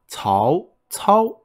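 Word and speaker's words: 曹操: So, cao, cao, so it's an ascending tone, and then a flat tone.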